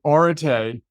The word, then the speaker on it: Areté: To step back, so Areté is how you pronounce that funny looking Greek word on my t-shirt and